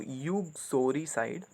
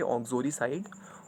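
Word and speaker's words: uxoricide: ऑक्सोरी साइड पढ़ने में ये आएगा आपको यूक्सोरी साइड, पर इसको पढ़ेंगे ऑक्सोरी साइड।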